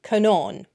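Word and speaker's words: Conán: But if you put a fada on it, on the name Conan, it becomes, I would say Conan, but he writes it as Conon. So I think I need to work on my Irish long vowels. So Conan, but with a fada on the A, is not Conan, it's Conon. Conon.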